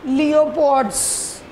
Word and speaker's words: pleopods: When they swim with leopods. PL लिखे देने leopods, which is present in the abdominal portion. Or these another name of leopard, PL, its P is silent one.